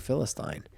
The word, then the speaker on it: Philistine: I heard that when I was listening to the Bible audio, and Ray Ortland was like, Philistine. And I was like, I've been saying it wrong for 42 years.